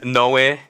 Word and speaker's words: Noe: So, but it's the same name as Noah, but in Spanish is Noi.